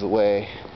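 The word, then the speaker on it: Huet: in net and when your name should rhyme with a net but doesn't as is the case with the way then instead his name is the way cuz he gives the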